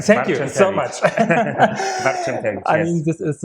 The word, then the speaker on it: Barczentewicz: Yes, I'm sitting here with Barczentewicz, correct? Great, correct. Thank you so much. Barczentewicz, I yes.